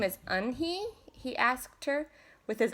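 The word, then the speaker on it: Unhei: Kim then turned to Joey she nodded slowly yes it's pronounced eun-hye and it means grace mr.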